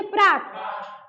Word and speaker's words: प्रातः: अकेले हैं तो पढ़ेंगे प्रात। लेकिन अगर ये विसर्ग लग गया तब पढ़ेंगे प्रातः। यानी ऐसे बोलेंगे कि जैसे उच्चारण में ह की मात्रा आनी चाहिए। यानी ह ध्वनि निकलनी चाहिए। तो जैसे यहां पे प्रातः